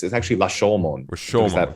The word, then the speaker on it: Rashomon: It's La Shomon. It's actually I was gonna that up really badly. But people just say Rashomon is fine. Rashomon is fine, but it's actually Lashomon.